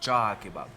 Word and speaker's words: Cağ: Alors ça s'écrit C-A-G avec un petit accent, mais le G avec le petit accent, ça allonge la voyelle, donc c'est Cağ Kebab.